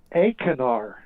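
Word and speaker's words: Achernar: star it's called uh a canar yeah yeah i think i pronounced long a acanar it means into the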